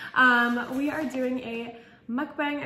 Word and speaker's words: mukbang: we are doing a mukbang i just found out today it's actually pronounced mukbang so we're doing a